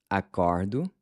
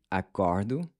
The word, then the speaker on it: acordo: Acordo, acorda, and acordam. So it changes to an open O, which is like the A in awesome.